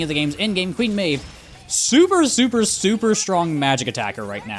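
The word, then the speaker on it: Medb: and that is Queen Mave. Yes, I'm pretty sure that's how you pronounce it. Mave. Even though it's spelled not how it sounds.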